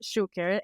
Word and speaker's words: Choucair: Our Guest Karen share it is pronounced share and it is very